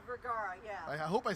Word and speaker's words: Vergara: chat, her name is Sofia Vergara. Vergara, yeah.